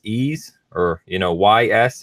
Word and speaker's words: Ys: with was I think we agreed we pronounced this ease or you know why